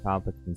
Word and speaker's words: Palpatine: why are you getting on my ass about pronouncing it wrong, too? I I'm not. No, that's not it. Uh, Emperor Palin, get a hold of your words before you speak them, Jack. Emperor Palpatine says, "I had my feet on yesterday and